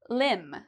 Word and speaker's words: limb: at for MB pronunciation, limb. So your limbs are your arms and your legs. Okay, so arms and legs are the same thing as your limbs. Now, do we pronounce the B here?